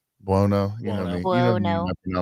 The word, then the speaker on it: Buono: I think Biano? Well, no. Buono.